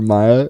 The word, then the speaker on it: Maya: This is my little sister and her boyfriend Logan, and her name is Maya. Rhymes with Kaya.